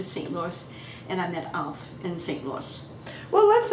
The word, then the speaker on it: Alf: You don't pronounce A here like you do maybe in England or somewhere. In Norway, and A is always an A. So we pronounce it Alf? Alf.